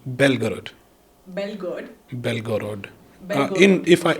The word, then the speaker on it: Belgorod: Belgorod. In Russian I pronounce it, it's Belgorod.